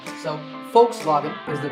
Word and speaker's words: Volkswagen: another german car manufacturer volkswagen i personally used to say volkswagen but i have since learned that the initial v is actually pronounced as an f sound in german so the first part